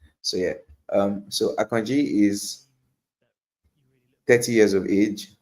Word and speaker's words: Akanji: So it's a Euroba Nigerian name and that's actually how it's pronounced Akanji. So yeah um so Akanji is 30 years of age has had injuries in the last 12 months.